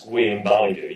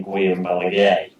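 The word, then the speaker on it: Guillem Balagué: on the whole game in La Liga, to pronounce Guillaume Balagu, you actually say Guillaume Balaguer.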